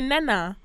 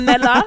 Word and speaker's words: Nella: They don't even say it properly. They say Nana. Instead of Nella, they'll be like, Auntie Nana.